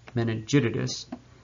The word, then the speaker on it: meningitidis: we have neisseria meningitidis sounds like i stuttered i'm sure but actually if you pronounce its name fully it's meningitidis and you can see